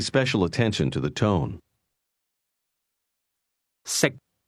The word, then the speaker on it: 食: Sick. How do you say can sick? The difference between the two is that can is spoken with a highle tone and to eat is pronounced at a low level.